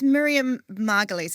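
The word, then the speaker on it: Miriam Margolyes: So, I mean, that's Miriam Margalies.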